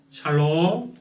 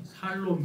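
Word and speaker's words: שלום: 샬롬의 은혜가 치기를 원합니다 한국 사람들은 저도 그렇고 샬롬의 발음이 잘 안 돼요 어떻게 하는가 하면 살롬 그렇게 발음이 되면 러분 살롬 반대말이 뭐예요 죽을놈 죽을 놈이 되죠 오늘 사망 권세를 깨뜨리시고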